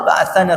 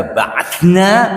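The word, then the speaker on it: بَعَثَنَا: An Usamata ibni Zaid, dari Usama bin Zaid radhiyallahu anhuma, qala ba'athana Rasulullah SAW. Ini membacanya hati-hati. Kalau dibaca ba'athna berarti kami telah mengutus. Tapi ba'athana, dia telah mengutus kami.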